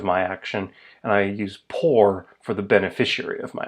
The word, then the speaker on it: por: Por rhymes with for.